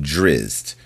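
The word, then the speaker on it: Drizzt: The DND story is called Comrades at Odds, a tale from the legend of Drizz. Remember, Drizz is spelled D R I Z T.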